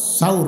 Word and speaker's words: সাউর: সাউর। হ্যাঁ, সুর কয়েন না, এটাও ভুল উচ্চারণ করেন।